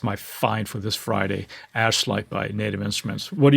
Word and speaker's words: Ashlight: pronounce this correctly because it's very easy to mispronounce this but it's called ash light ash light and it is a granular synth